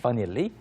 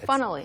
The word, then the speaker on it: funnily: At first you're tempted to read it To read as it that way. funnily, But it's funnily. funnily. Think of easily. Yeah. Easily. Funnily.